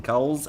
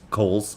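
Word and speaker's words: Cowles: I'm sorry Kohls I've been explained to me that your last name is pronounced Kohl's but I can't bring myself to call you that you're just Batman's perfect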